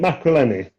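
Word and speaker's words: Maccarinelli: When you beat Macreleni, that's how you pronounce it.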